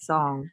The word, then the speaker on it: Sung: And then Sung, I hope I'm saying this right. I apologize if I don't. Sung shared her Padlet in the chat pod. I hope I pronounced that correctly for you. Yeah, that is correct song.